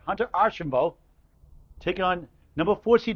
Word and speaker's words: Archambault: But for now, newcomer Hunter, okay, his name is not Archibald. The LRT is silent, Paul. Just learned today it's Arshambo. Right, got it right, right? Hunter Arshambo.